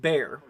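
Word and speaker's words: Barre: eye on it now Kate is saying uh it's pronounced bear um okay so we're I'm still gonna call it Barry just because I've already gotten used to it um so obviously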